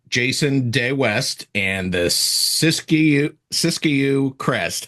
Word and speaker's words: Siskiyou: And is it the sysu crest? Cisco crest. That's right. Syscue. The I silent.